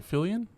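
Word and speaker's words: Fillion: No, it's senior cuz how do you pronounce his name? Fillian. Is it Nathan Philly? Nathan Fillian. Yeah.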